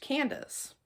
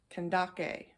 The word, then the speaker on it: Candace: In English, my name would be pronounced Candace. But in ancient times, it would have been Kandake.